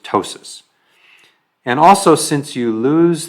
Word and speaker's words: ptosis: droopy eyelid that's called ptosis you don't pronounce the P it's just ptosis and also since you